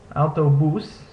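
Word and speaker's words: autobús: Next is this a-u combination, which makes a sound similar to the English word cloud.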